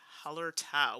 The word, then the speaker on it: Hallertau: be streaming the game holler tau which i've been pronouncing wrong forever i don't know why i added an extra a but i think i figured it out now so i know miguel's